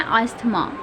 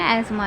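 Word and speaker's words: asthma: देखो ऐसे होती है स्पेलिंग एज़मा, लेकिन इसलिए हम इसको बोलते हैं अस्थमा, ठीक है। लेकिन इसको हम इंग्लिश में एज़मा ही बोलते हैं।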